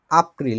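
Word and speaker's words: April: March তারপরে এপ্রিল হচ্ছে এপ্রিলের মতই আপ্রিল বলে এটাকে কারণ জার্মান ভাষায় একে কি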